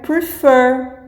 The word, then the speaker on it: prefer: Também aí, por exemplo, o verbo prefer. O fer é mais forte e não prefer, entendeu?